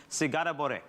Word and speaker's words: sigara borek: now correct me if I'm wrong in the pronunciation, chef, sigara borek.